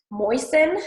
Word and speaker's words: moisten: t after the s moisten has a d after the s often some people do